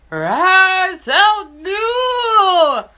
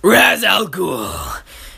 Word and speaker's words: Ra's al Ghul: His name rhymes with Azul.